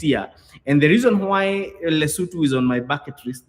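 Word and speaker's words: Lesotho: By the way, guys, Kenyans, it's not pronounced as Loto is it's pronounced as Lutu.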